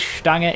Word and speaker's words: Stange: It is Stange. It's a German word.